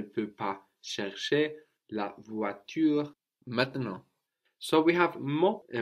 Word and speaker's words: maintenant: Then we have the A-N-T at the end, no, all becoming A. So we get maintenant.